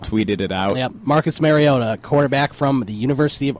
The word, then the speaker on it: Mariota: watch Chip Kelly now offer a trade for Mariota instead he could he could uh now the Jacksonville Jaguars are on the clock apparently Roger gell called him Marcus maroto Marcus maroto that's nice he'll probably say a